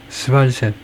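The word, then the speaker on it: SvalSat: 발음이 스발셋 스발셋 하면 되겠네요.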